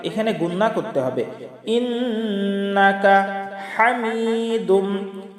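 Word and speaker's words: حميد: ইন্নাকা হামিদুম, হা হলকের মধ্যখান থেকে চাপ দিয়ে উচ্চারণ করতে হবে, এটা হলো বড় হা।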